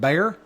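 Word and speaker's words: Béxar: Bayer is looks like Beexar but it's pronounced Bayer.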